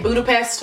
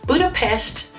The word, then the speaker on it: Budapest: to any Hungarian person Americans say Budapest or a lot of people say Budapest but it's actually Budapest as I learned from